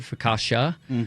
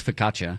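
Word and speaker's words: focaccia: you know, and you know, that that goes along with more of how Americans sometimes say it, ficasha, but you know, um, in Italian it's fkaca.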